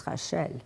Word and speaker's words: Rachel: It's the way to pronounce the French way, it's Rachel.